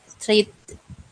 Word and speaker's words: treated: Treated. Treated. Bukan ya? Treated. Ya, Treated. treated. Jadi ed-nya itu jelas ya.